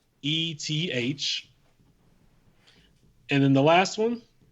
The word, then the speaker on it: Nemeth: I believe I'm pronouncing it correctly. It's Nemeth.